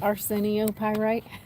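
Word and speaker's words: arsenopyrite: 603 Arcenio pyite.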